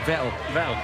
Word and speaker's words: Vettel: Or shall I say his name properly this time? Vettel. Norbert Vettel. Vettel as in kettle.